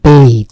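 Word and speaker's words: bathe: বাথ এটা কিন্তু আর বাদ থাকে না এর উচ্চারণটা হয়ে যায় বেইদ সেই কারণে দিয়েছি এই বেইদ মানে হচ্ছে গোসল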